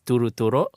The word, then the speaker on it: turo: really constitutes a proper bule fight the original pronunciation is turo it's essentially a generic term in the used